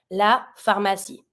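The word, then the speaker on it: pharmacie: in English la phy it's feminine final e at the end it's mute H some as in English makes s f f La Pharmacy the hospital hospital L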